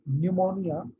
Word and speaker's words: pneumonia: ठीक है, सो and the interesting thing is that it starts with P, but we don't pronounce P, it is silent. Pneumonia lung disease है actually.